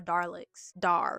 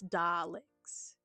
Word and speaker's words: Daleks: I'm trying my best to pronounce the L correctly.